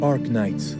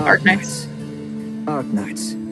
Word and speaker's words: Arknights: say Ark Knights Ark Knights yeah you would I was saying how do you say it hello that's not AR Knights that's pretty satisfying that's